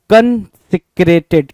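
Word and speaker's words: consecrated: तो जरा सा प्रोनाउंसिएशन पे ध्यान देंगे, क्या बोल रहा है, कॉन्सिक्रेटेड, क्या, कॉन्सिक्रेटेड, कॉन्सिक्रेटेड, कॉन्सिक्रेटेड, है ना।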